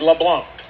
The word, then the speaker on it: LeBlanc: Louisiana oh my goodness now am I pronouncing it correct is it LeBlanc LeBlanc LeBlanc there there's no no C no